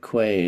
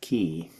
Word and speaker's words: quay: Barbara was telling me that quay is pronounced key.